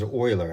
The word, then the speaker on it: Euler: an issue rounding up Swiss mathematician Leonardo Euler that's pronounces oiler actually Leonardo Euler proved